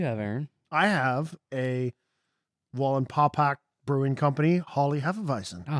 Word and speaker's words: Wallenpaupack: Aaron, Wallenpaupack Brewing Company, Wally Hefeweizen.